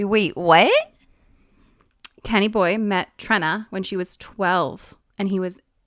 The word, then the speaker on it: Trenna: I don't I feel like Trina is not that, you know? It's Trenna. Yeah, Trenna. If you spell it that way, I'm going to say it that way.